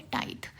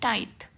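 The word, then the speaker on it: tithe: देखो इसको प्रोनाउंस करते हैं TI को टी नहीं बट टाई टाइप से, एंड THE को कैसे करते हैं, द वाला जो होता है ना टाइथ, वैसे दैट दिस वाला, नॉट टी बट द वाली जो चीज़ है ना वो वाली, दिस दैट वो, तो टाइथ।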